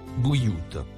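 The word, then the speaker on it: بيوت: Le mot écrit en bleu nuit, se prononce « bouillout ».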